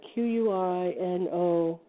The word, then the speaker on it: quinoa: Yes, they had that, and they had Q-U-I, I never pronounce this right, Q-U-I-N-O-A, quinoa.